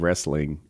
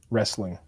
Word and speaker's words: wrestling: can't relate yeah yeah i think the proper pronunciation pronunciation of wrestling pretty much ignores the t wrestling yeah wrestling like riesling but easy on the e but a real word